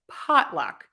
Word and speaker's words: potluck: for that ah and you have to stress pot that's the key here stress pot and then luck is unstressed so that's shorter pot is longer luck is shorter pot is louder luck is softer pot is higher luck is lower so it's potluck potluck